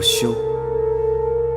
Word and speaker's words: 休: 这个字念作休，因为这份婚约，所以嫣然是我的妻子。